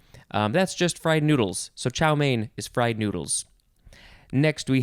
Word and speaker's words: chow mein: chow houn chao line next is chow mein two words main is spelled m-e-i-n noun from 1898 a